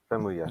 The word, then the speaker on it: Famuyiwa: Yes, thank you, Famuyiwa.